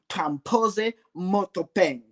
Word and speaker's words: Tampose Mothopeng: I usually call him, but for purposes of this show, I will pronounce this very complicated name, Tampose Mothopeng.